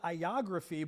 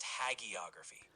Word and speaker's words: hagiography: It's pronounced Hagiography. The hag part is like hag, and the stress is on that og. So Hagiography?